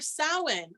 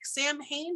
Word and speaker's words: Samhain: So Halloween, hallowed evening, or Samhain. I know it looks like Samhain, but it's actually pronounced Samhain, which is the end of the summer.